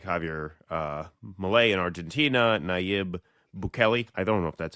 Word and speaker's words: Bukele: empire, a lot of people look at these, some South American leaders like Javier Milei in Argentina, Nayib Bukele.